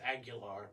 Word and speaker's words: Aguilar: Aguiler. Do what? It's Aguilar, but Okay. But it's spelled like Aguiler.